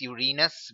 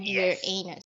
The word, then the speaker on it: Uranus: over honor that's the pouring it's it's actually pronounced Uranus but sure whichever it is still look yes so let's go with your anus yes just go with what sounds does the